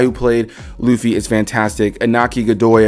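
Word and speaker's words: Iñaki Godoy: played Luffy is fantastic anaki Godoy I believe is how you pronounce his name uh I think that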